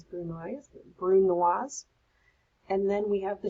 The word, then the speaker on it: brunoise: Brunoise, it's got a couple of different ways, but I pronounce it as brunoise.